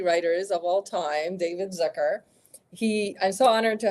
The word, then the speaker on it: Zucker: my favorite comedy writers of all time David Zucker he I'm so honored to have you um well thank you for pronouncing my name right really I did this Zer a lot of people say Zucker all my high school teachers always said Zucker